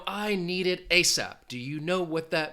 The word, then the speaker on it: ASAP: And an acronym is pronounced as a single word, ASAP. Now, if somebody says, I need it ASAP, do you know what that means?